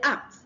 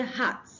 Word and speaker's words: act: If you want to say act, okay, yes, act. CACT. Act. Don't say hat. Don't say hat, but act. Okay? Because if you say hat, you are pronouncing an H before it.